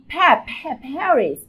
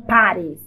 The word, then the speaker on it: Paris: Paris, não Paris.